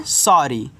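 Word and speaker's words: sorry: आगे एस O double R आई वाई। इसको पढ़ते हैं सॉरी ऐसे 100 और डबल आर है तो केवल एक बार र लास्ट में वाई आता है तो बड़ी ई की मान्यता लगाता है तो ये आपका हो गया सॉरी सॉरी का मतलब होता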